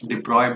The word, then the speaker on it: de Broglie: De Broglie's, या आप इस De Broglie बोल सकते, pronounce as De Broglie. Reason being your this guy might be a Netherland का गाय, तो ये ब्रॉगली के जगह पे De Broglie ऐसा भी बोलते हैं.